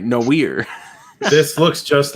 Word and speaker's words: noir: And you'll notice that I pronounced it correctly this time instead of no ear. I'm Right. getting smarter. Right, noir.